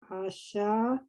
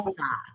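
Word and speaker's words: עָשָׂה: The ayin is silent, so it's the vowel. So it's Sa sa. Right. Sa. Asa.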